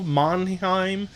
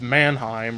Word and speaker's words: Manheim: Butcher on base schedule monheim who would just go by his last name of Manheim or monheim however you want to pronounce it and oystein are Seth